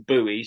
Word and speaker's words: buoys: done your own experiments we call them boys I think you pronounce them buoys at the at the